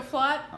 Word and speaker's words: Flath: the video yes you do okay excellent so flat it's a German European in the European mix